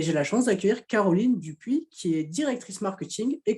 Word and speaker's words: Dupoux: Oui, désolée, la prononciation c'est Dupuis, c'est un nom landais, hein.